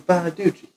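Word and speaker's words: Bonaduce: that Gary looks a little bit like Danny Bottaducci? I do. Hmm. No, I don't. You just lied. So So, Is that how you say his name? ultimately, Bonaducci. It's Bonaducci.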